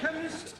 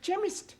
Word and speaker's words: chemist: blame me k e chemist does not begin with a k it sounds like it begins with k CH H but that is making it chemist no the CH is